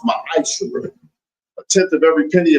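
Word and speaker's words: מעשר: You can find this in Numbers 18:21, Malachi 3:8-10, means 10th in the Hebrew and is pronounced ma'asher.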